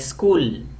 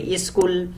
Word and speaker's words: school: with two consonant letters like school begins with two consonants letters sir and curved and then they find it difficult to pronounce and therefore they need help of a vowel sound so they say a school a scooter is start so these are